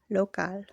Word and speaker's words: local: Note, Spanish words that end in al are stressed on the last syllable. Example, local.